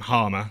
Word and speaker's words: Harmer: out of my surname harma as I don't know if you heard um it's easy it rhymes with stuff right yeah I've been